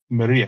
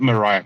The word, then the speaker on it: Mriya: uh can you say Maria report Maria not Mariah Maria um Hermann is